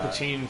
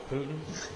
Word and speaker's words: poutine: i believe it's pronounced i just wanted to call it poutine for our american friends that might be like what the hell did he just say putin uh a very solid